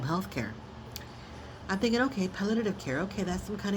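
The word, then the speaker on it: palliative: If I'm saying it wrong, I'm going to spell it for you because I it took me months to even figure out how to say palative care. It's P as in Paul. A L L I A T as in Tom.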